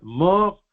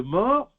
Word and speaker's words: mors: Je ne sais pas si ça se prononce en français, M-O-R-S. C'est mort ou morse. Je crois que c'est mort.